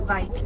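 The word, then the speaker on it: wijd: a mistransation of the Dutch Africans word bite. Now, bite is spelled wi t. So, it kind of looks like the word white, but it means wide.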